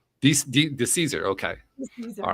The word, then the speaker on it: DeCesare: So DeCesare, oh God, I forgot to ask the pronunciation of her last name. DeCesare, is it DeCesare? What is it? DeCesare. DeCesare, okay.